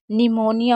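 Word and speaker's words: pneumonia: इसी तरीके से पी कब साइलेंट होता है, अगर कभी भी पी एन या पी एस शुरू में दिखे आपको तो पी को नहीं पढ़ेंगे। जैसे निमोनिया होता है, ये बहुत इंपॉर्टेंट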